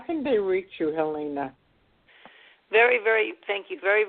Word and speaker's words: Helena: it's WW and I pronounce my name Helena but it's okay spell the same way is a it's a it's a pronounced different ways hele na so it's Helena